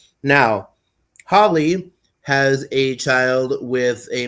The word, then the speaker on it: Holy: Him and Susie Q give birth to Holly, although her name is written Holy, like holy, but it's pronounced Holly. Gives birth to Holly Joestar.